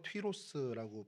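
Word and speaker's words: Τύρος: 헬라어로 튀로스라고 발음이 돼서 이 튀로스 발음이 지금 현재 레바논에 있는 티레란 도시의 이제 그 이름으로 이렇게 발전이 되게 됐습니다.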